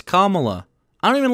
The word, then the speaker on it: Kamala: who is the deciding why do they always say her name wrong it's kamala i don't even like